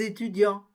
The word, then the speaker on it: étudiants: le prononce pas des étudiants on ne prononce ni le T ni le S des leçons prononce pas